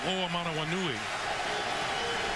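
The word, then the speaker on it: Hoomanawanui: I believe the call was on number 47, Michael Oamanawanui.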